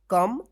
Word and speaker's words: come: तो इसको आप ध्यान रखिएगा, ये 4 अक्षर जो है ना वर्ड्स, कम, डन, सम, वंस, इसमें भी ओ है और